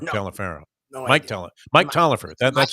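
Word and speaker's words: Taliaferro: mike tell him mike tollifer that's how you pronounce it mike toliver it was spelt talafero but it was like toliver like t-o-l-i-v-e-r mike toliver remember that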